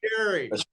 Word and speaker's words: Fieri: 2006, Chef Guy Fieri won Food Network's Next Food Network Star and was awarded his own series, Guy's Big Bite.